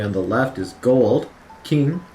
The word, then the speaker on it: 金: Kin is a typical pronunciation of it, yep.